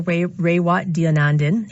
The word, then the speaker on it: Raywat Deonandan: Raywat Deonandan.